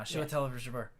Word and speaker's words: Chiwetel Ejiofor: Oh wait, Chiwetel- I wait, just pronounced wait, it. hold on. I'll say it correctly right now. Chiwetel Ejiofor.